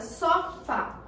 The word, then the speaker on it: sofá: Vamos identificar aqui na palavra sofá. Qual é a sílaba mais forte? O Fá, né? Que eu fiz mais força na hora de pronunciar.